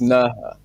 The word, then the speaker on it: Nerja: Anyway, so it's in it's spelled Neja, yeah? So and it's pronounced Nerja, right?